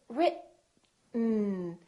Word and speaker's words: written: We say written. Just move your tongue forward to go directly to the N. This E kind of disappears. It's not pronounced.